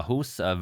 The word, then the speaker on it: Ahues: game from round 9, Ahues, or rather Karl Ahues, I think I've been mispronouncing it so far, it's Karl Ahues versus world reigning champion Alexander Alekhine.